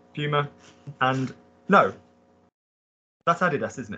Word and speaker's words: Puma: two brands um get the word get the pronunciation right for two good brother we have um Puma Puma and no that's Adidas isn't it yeah Adidas